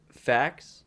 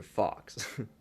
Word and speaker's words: FAQ: Now, how do you say, is it fax or fox? I say facts. Frequently asked questions. I want to call it fox.